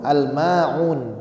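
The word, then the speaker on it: الماعون: Hamzah Benar ya hati-hati yang di ayat terakhir Ma itu Ain jangan sampai Hamzah juga hati-hati jadi karena terbaw di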